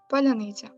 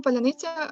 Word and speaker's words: паляниця: диверсійно-розвідувальні групи в Україні росіянам важко вимовляти цей це слово тому що в українській мові звук ц може вимовлятися як твердо наприклад у слові Сонце так і м'яко як слово козацький а натомість у російській мові звук це завжди твердий тому для росіян які